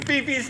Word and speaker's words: Fifi: We're going to count to 3 and me correctly pronouncing Fifi's name.